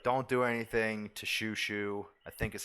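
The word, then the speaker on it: Chouchou: spelled this way the c-h-o-u-c-h-o-u but it is pronounced shushu or uh sure sure you know sure [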